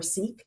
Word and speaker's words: Sikh: We did limit this first study to sick men, so sick or Sikh, depending on how you pronounce it, of working age.